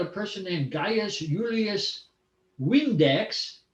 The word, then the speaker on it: Vindex: He learned that a person named Gaius Julius Vindex, he pronounced the V in Latin as if it was a W.